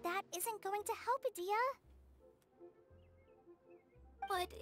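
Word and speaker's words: Dehya: We see Yula and Kale, and I forgot how to pronounce her name. The keeper of this realm. Adia.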